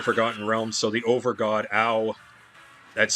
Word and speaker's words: Ao: So the overgod, Ao, that's spelled A-O, he took away their immortality and made them wander the earth as mortals.